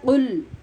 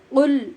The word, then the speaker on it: قل: ہم سیکھ رہے ہیں کہ قاف کو آواز کے مخرج میں ٹکرائے بغیر نہیں پڑھنا، اگر یہ پڑھیں گے تو بہت سخت گناہ ہو جائے گا، اس لیے اتنی ہی محنت سے اس کا تلفظ درست کرنا ضروری ہوگا۔ گناہ کیسے ہوگا؟ یہ لفظ ہے قل هو اللہ، قل آواز ٹکرا رہی ہے، آپ بھی مشق کیجیے،